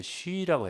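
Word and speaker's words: Xu: 워치먼이 사역 당시에 북경에 있었고 그리고 릴리 박사 릴리 쉬 그 사람이 우리나라 허씨예요. 그러니까 쉬라고 해요. 맞아요. 쉬. 릴리 수 그랬잖아요. 쉬라고 해요. 맞아요. 발음이.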